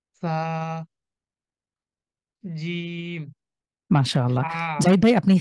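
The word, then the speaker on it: ث: কিভাবে উচ্চারণ করেছেন আপনি আমি জিহ্বার যে আগাটা আছে এটা নিচের দাঁতের সাথে মিলিয়ে আরকি একটু হালকা মিলিয়ে উচ্চারণটা করেছি হ্যাঁ জিহ্বটাকে সামনে রেখে আমাদের সামনে যে দাঁত রয়েছে সেটার সাথে স্পর্শ করে এবং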